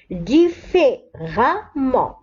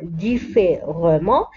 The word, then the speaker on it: différemment: différemment. لاحظوا أن هنا R بعدها E ولكن لا نقرأ différemment نقرأها différemment. Donc si l'adjectif se termine